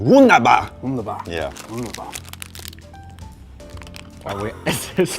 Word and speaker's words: Wunderbar: You gotta say it like the Viking. Wunderbar.